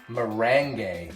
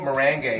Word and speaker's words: meringue: seeds she's our mango merengue and we mispronounce it a couple times I think we got it right though mango meringue and she's also one of